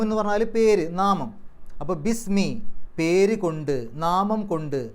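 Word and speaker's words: بِسْم: ഇസ്മുൻ എന്നുള്ള പദം ചേർന്നു അപ്പൊ ബി ഇസ്മുൻ എന്നല്ല ബിസ്മി എന്നാണ് പറയുക ബിസ്മി ഇസ്മുൻ എന്ന് പറഞ്ഞാൽ പേര് നാമം അപ്പൊ ബിസ്മി പേര് കൊണ്ട് നാമം കൊണ്ട്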